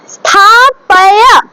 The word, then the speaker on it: স্থাপয়া: তারপর স্থাপয়া, পয় বলবো না, স্থাপয়া, ঠিক আছে, স্থাপয়া, ঠিক আছে। দেখো বাংলাতে লিখছি বটে কিন্তু এগুলোকে মনে রাখতে হবে এগুলো কি সংস্কৃত, তাহলে এটা সংস্কৃত ভাবে যদি উচ্চারণ করি স্থা পা STHAPAYA হয়, ঠিক আছে, এইটা হবে উচ্চারণ স্থাপায়া, ঠিক আছে, পায়া, পয় নয়।